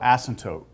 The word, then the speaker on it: asymptote: call a horizontal asymptote asymptote it's Assam you don't have to this is silent P asymptotes asymptotes horizontal meaning